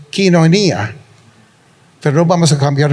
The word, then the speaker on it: Koinonia: Y por si acaso esta palabra tenemos comunión unos con otros, esta palabra coinonía en griego, aunque me han corregido los que hablan griego y dicen que en griego es quinonía, pero no vamos a